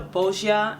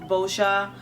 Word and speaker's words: Boscia: Right now, I'm trying the Boscia, is how you say it, Boscia primer.